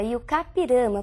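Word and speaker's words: I-Juca-Pirama: E a pronúncia é realmente essa, Iucapirama, porque é um termo de origem indígena. Nós escrevemos Ijucapirama, mas pronunciamos Iucá, que significa aquele que vai morrer.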